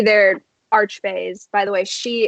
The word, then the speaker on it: Sidhe: By the way, Shi is spelled Sidhe, but it's pronounced Shi.